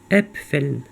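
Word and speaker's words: Äpfel: кілька яблук буде ді змінюється буква А на А умлаут читається епфельд дікароте морква вірне груша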